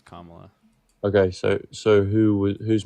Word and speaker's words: Kamala: tell me this you think Joe Biden or Kamala is more qualified for Kam Kam is it Kamala Kamala Kamala Kamala Kamala Kamala it's it's how their name is pronounced it's Kamala okay so so who who's more qualified you